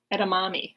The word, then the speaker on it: edamame: dishes and often eaten as a snack it's pronounced that's a mama and a mommy edamame oh there you go edamame the edamame threat